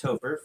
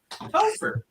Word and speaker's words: Topher: But it is pronounced Topher. For anybody watching, you're like, how do you say that guy's name? Topher.